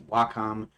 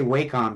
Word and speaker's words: Wacom: so old w w Wacom I want to say wcom because that's when I look at it that's how I pronounced it but you know